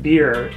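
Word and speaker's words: Byrrh: the is that pronounced bur beer it's it's weirdly enough pronounced beer beer which is not confusing at all right because when i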